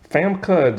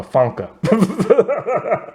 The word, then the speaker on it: Famke: Famke Jensen. I've been saying her name wrong for the longest time. I never saw the M. I just been calling her Funka. I never saw the M till now.